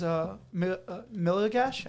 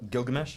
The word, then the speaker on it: Gilgamesh: my favorite scene is Miligash. I don't know how to say his name. Gilgamesh.